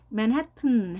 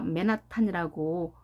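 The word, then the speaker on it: Manhattan: 주어지기 때문에 발음이 달라지겠죠 이때 강세가 두 번째 강세가 있습니다 앞에도 에로 읽지만 소리가 약하게 맨 맨 그리고 헤트가 높게 올라가는 거죠 그 다음에 뒤에 a는 발음이 되지 않습니다 가는 길을 보면 아예 없죠 소리가 안 난다는 거죠 모공으로 해서이 t가 양쪽에 몸이 있게 되면 발음이 약하게납니다 발음이 숨어버리니까요 맨하튼 해도 되지만 빨리 하다 보면 우리가 맨하탄이라고 보통 말하는데 우리말식 맨하탄과 맨하탄 비교할 수 있을까요 대화를 할 때면 나왔으면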